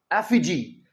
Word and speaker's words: effigy: इसका सही प्रोनाउंसिएशन है एफिजी।